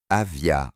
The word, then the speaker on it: Avia: Je suis également conscient que Avia se prononce Avia en tche, mais je m'en tiens à la prononciation anglaise car il s'agit de